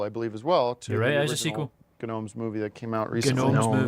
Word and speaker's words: Gnomes: believe as well to gnomes movie that came out recently it's pronounced gnomes it's pronounced gnomes okay